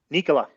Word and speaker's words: Nikola: nicola or nicola how do you say it nikola yep you absent the first letter he was